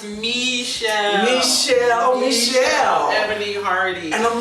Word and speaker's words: Michelle: It's pronounced Michelle.